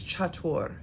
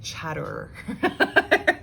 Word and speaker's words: chatur: away number four is chatur chatur what does that sound like or i guess like chatter is how some people might pronounce it when it's in terms of the whole word so chaturanga chaturanga so